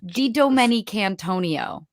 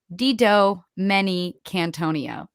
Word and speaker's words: DiDomenicantonio: It's very phonetic. Like the way that you would read it at the bottom of the screen is like really what it sounds like. It's just intimidating because it's 8 syllables and 16 letters. So it's DiDomenicantonio.